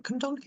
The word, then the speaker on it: Cwmdonkin: up to my college at Town Hill, was Cwmdonkin. So if I'm pronouncing that right, Cwmdonkin Wow, Park.